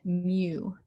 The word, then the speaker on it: mu: you my bag but it is spelled m-u in case that helps you pronounce it mew okay i'll show you